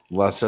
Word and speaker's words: Leicester: Is this pronounced Leicester Square? That definitely threw me. Yeah, you're right, I believe. Yeah, Leicester.